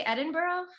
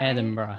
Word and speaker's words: Edinburgh: how do you say edinburgh is that edinburgh yes the last part is pretty hard for americans to get bora bora yeah that's a sound we don't make a lot here over in